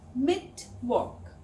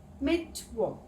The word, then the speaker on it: Mittwoch: The w in German is pronounced like the English v. So, Mittwoch. Mittwoch.